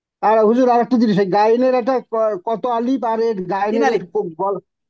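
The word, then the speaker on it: غين: ওকে, তিন আলিফ টান হবে, গলা শেষ ভাগ থেকে উচ্চারণ হবে গইন।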